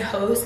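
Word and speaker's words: Hauste: I love the brand Host. It's spelled like H-A-U-S-T-E for dinner planning or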